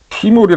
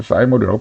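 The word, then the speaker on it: thymol: 번에 나오는 어 맨솔 캄포 어 이거는 이제 티몰이 사람들이 부르는데 원래 영어 사진로 찾아보니까 사이모 이더라고 그래서 저는 그래 사이모이라고 발음을 하겠습니다 그래서 맨솔 그다음에 캄퍼 그다음에 사인몰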